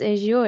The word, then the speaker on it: Azure: as your so people how are you going to pronounce azure is it azur or Azure that's really up to you there's no hard and fast room so the name